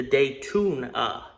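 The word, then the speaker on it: Daytoona: I'm code naming the day tuna sounds terrible until you spell it out d a y t o o n a it's a cartoon style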